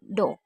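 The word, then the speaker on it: dough: आई या ईआई के उपरांत जीएच आए या जीएच के उपरांत टी हो तो जीएच का उच्चारण अक्सर नहीं होता है।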